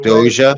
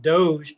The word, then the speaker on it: Doge: Well, in my opinion, that's not how you pronounce it. That's just the way Elon Musk pronounces it. Therefore, that's the popular Doja. way. Doja. That news anchors pronounce it Doge because Elon Musk pronounces it right.